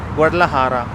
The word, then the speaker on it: Guadalajara: So J you say is Ha, Guadalajara. So, but we pronounce Guadalajara.